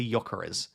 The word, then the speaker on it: Gyökeres: Yes, and he said it's Victor Gyökeres. I need to say not J.